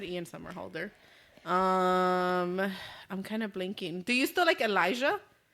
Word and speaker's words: Somerhalder: I said Justin Bieber, Chris Evans, and Ian Samahoda. Is that how you say it? Somerhalder. Yeah, Somerhalder. Or Holder. I don't fucking know.